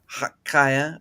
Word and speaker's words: Chaya: Kaya.